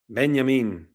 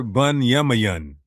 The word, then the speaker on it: Benyamin: They didn't hear bunyan. The Latin vulgate. Benyamin. Same thing. Benyamin. We hear the E sound and we don't hear anything close to Bayamayan.